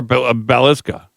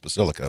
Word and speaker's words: Basilica: Basilica or Balisa. Well, it's that it's spelled and pronounced Basilica.